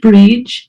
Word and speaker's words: Brid: So my name is Brid. It's pronounced Brid.